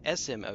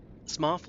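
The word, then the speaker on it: Smough: G o u g h. So if the same spelling convention occurs g u g h s m o u g h then go smothoff. That's why smoff like cough not smo like dough.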